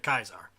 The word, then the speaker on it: Caesar: the message ignorant Kaiser's kaiser is the actual old Latin pronunciation of Caesar when English became the